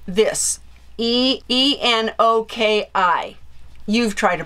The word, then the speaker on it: enoki: And they are called this, E-N-O-K-I. You've tried to pronounce it.